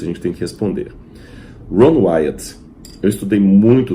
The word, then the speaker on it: Ron Wyatt: Aliás, até interessante, uma curiosidade para os adventistas, o nome dele era Ron Wyatt. Ron Wyatt. Mas pela má pronúncia em português, alguns confundiram como Ron White.